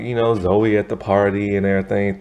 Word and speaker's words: Zoe: who mispronounced her name calling her joey with a j instead of zoe with a z and so but they're